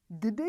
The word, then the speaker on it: kdy: Kdy je to? When is it? Again, we pronounce a hard g sound, kdy. Kdy je oběd?